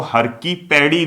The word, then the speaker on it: हर की पैड़ी: बहुत से लोग अभी भी हर की पौड़ी कहते हैं, हर की पौड़ी नहीं होता है, हर की पैड़ी होता है।